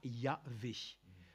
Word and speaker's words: Yahvé: Mais il est de communément utilisé qu'il ne pouvait que se prononcer de cette manière par Yahvé.